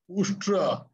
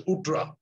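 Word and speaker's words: उष्ट्र: Instead of Ustra, he somehow pronounced as Utra.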